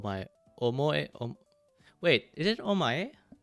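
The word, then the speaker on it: お前: Is it omoe?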